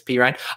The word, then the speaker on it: Perine: phonetic pronunciations and so i do know that it's p ryan uh the only thing